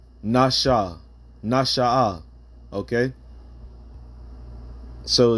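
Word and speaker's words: נשא: But let's go into the word Nashaah, all right? And that's really how you pronounce it in the Hebrew.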